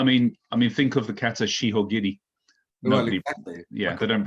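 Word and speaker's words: 四方切り: I mean, think of the kata shihogiri. Nobody, exactly. Yeah, they don't pronounce it jihogiri.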